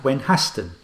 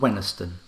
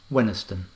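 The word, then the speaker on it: Wenhaston: we looked at the phonetically sounding village of gwen haston which has the pronunciation of wenisten aton means an enclosed village farmstead or manor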